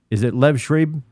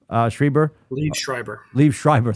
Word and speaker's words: Liev Schreiber: Is it Lev Schreiber? Liev Schreiber. Thank you.